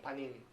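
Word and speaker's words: פנים: Así se pronuncia rostro en hebreo, panim.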